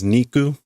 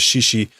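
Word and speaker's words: 肉: This is you'd normally see this as niku. Uh here we see it as shishi.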